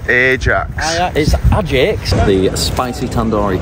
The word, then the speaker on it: Ajax: we Ajax football stadium Ajax it's pronounced Ajax is a the spicy